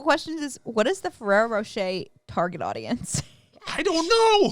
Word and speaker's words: Ferrero Rocher: It's spelled Rocher. But they don't pronounce the R. So my point's still valid. One of the Google questions is, what is the Ferrero Rocher target audience?